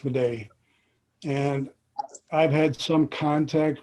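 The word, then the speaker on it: Midé: Yeah, it's usually pronounced Meday.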